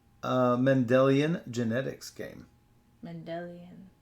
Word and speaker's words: Mendelian: Mendelian. Yes. Like Gregor Mendel's genetics experiments.